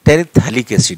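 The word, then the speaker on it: terephthalic acid: तो टेरिलीन में T term से याद रखना, टेरेप्थेलिक एसिड, ये हम अपनी भाषा में बता रहे हैं, यहाँ पे ये साइलेंट होता है। तो टेरिथैलिक एसिड इसे प्रोनाउंसिएशन कहते हैं, टेरिथैलिक एसिड।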